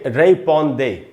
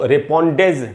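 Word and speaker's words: répondez: तो हम इसको जेड को नहीं पढ़ेंगे और पढ़ेंगे रेपॉन्दे। इसको रेपॉन्डेज नहीं पढ़ना है, रेपॉन्दे।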